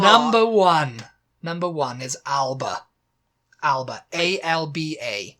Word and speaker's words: Alba: you do the G did you do the Scottish pronunciate Scottish pronunciation of Al Alba there you go that's that's a Scottish pronunciation okay and Alba okay